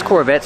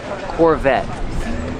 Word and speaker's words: Corvette: This Corvette's from the 70s. And let's talk about pronunciation. Corvette. The T is a stop T. The E is silent. Corvette.